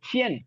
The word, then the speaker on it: 钱: அதுக்கு அடுத்து அந்த சியன் QIAN. ஸோ இந்த Q வரும்போது நம்ம இச் சவுண்டு ஸ்ட்ராங் ஏர் பஃபோட ப்ரொனவுன்ஸ் பண்ணுவோம்.